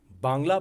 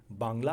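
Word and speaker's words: বাংলা: और भाषा को भी कि नहीं वह बंगाली भाषा नहीं है वह बांग्ला भाषा है तेलगु तमिल मलयालम कन्नड़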